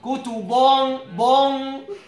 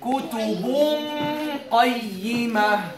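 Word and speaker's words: كُتُبٌ قَيِّمَةٌ: See, I'm pronouncing the first haraka, which is the dhamma. Kutubun qa. Kutubun, not kutubun bon.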